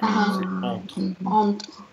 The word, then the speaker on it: entre: On ne doit pas entendre du tout le N. Pas du tout. C'est entre.